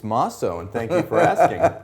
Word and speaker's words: Mosso: It's Mosso, and thank you for asking. Mosso. If I butchered...